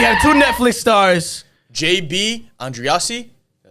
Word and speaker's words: Andreassi: JB Andreassi.